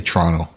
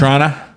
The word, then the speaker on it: Toronto: kind of like a CH Toronto I say Toronto so it's like a you could say Toronto